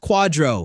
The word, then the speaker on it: QDRO: The qualified domestic relations order, pronounced quadro, which sounds like a discontinued energy drink from 2006, but is actually the document standing between you and a $74,000 tax bomb.